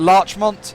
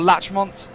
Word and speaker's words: Larchmont: This is that Larchmont? Is that how you say that? Or Latchmont? Latchmont, I think. Larchmont. It's spelt Larchmont. So I'm going to say Larchmont.